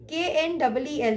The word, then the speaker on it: kneel: hour, H is silent, and KNEEL, kneel, K is silent.